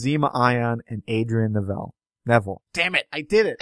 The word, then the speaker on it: Neville: ion and Adrien Nel Neville damn it I did it I can't believe I did that what that can never be pronounced neille that's that's an ongoing